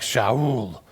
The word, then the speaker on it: Shaul: His Jewish name would have been pronounced something like Shaul, but we would say Saul.